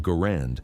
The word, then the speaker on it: Garand: The designer's name is pronounced Gurand, rhyming with errand. Despite this, many veterans and collectors call it the Gurand. We will use the correct pronunciation. Records show John Garand himself preferred it that way.